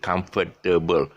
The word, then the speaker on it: comfortable: or comfortable so uh the three-syllable word comfortable too long they say comfortable that's how the british pronounce it comfortable comfortable come just